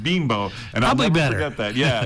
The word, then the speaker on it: Bimbo: uh he mentioned because i said group of bimbo and he goes no it's pronounced beanbow and i'll be better yeah yeah that sounds